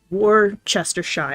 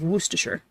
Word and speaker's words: Worcestershire: like that because more most people would say like war chest or shy or something like that but it's like worcestershire you kind of barely pronounce that first r right there i'm not